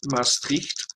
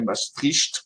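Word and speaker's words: Maastricht: Et ils sont retournés chez eux en passant par Mastricht. à ne pas prononcer comme les français mastricht, c'est mastricht, hein.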